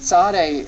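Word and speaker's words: Tsade: on is Sade and the Sade is pronounced like the TS in Boots it's more like a hissing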